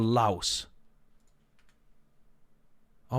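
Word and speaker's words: Laos: um let's go for La oh my God La you mean Lao oh is it pronounced Lao I don't even know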